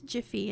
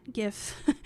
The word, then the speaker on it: GIF: And if you have any more questions or want to talk more about it or discuss why I pronounce it as Jiffy and not GIF, find me in the Track 6 Questions Slack channel.